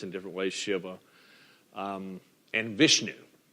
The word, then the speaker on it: Vishnu: si VA or Shi VA you also hear pronounced in different ways Shiva and Vishnu V is H nu V is H nu